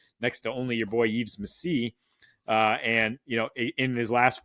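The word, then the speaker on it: Yves Missi: It's not Yves Missy, it's Yves Messi.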